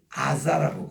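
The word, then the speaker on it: עזה: 유대인들은 이거를 아자라고 그렇게 얘기합니다.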